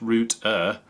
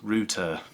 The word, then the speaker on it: router: Chuck Lupo says, it's pronounced router, not root-er. No, my friend, it's pronounced router.